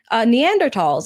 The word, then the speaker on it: Neanderthals: cavemen and like, the Neanderthals and all of that. Like, that is our common thread. Neanderthals. Neanderthals. Neanderthal what? Neanderthals. Neanderthals. Yes. That's how you pronounce it. No, the h is silent.